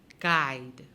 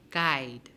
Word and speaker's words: guide: what are you noticing there are actually two silent letters in guide guide wrong the w